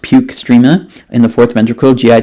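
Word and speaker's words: postrema: located within the area of postremia, pronounced puke strema, in the fourth ventricle, GI tract via vagus nerve and vestibular system and CNS.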